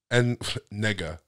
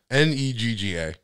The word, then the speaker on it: Negga: It's Negga. N-E-G-G-A.